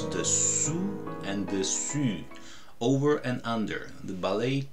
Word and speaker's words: dessus: But dessus, over, I've heard different versions.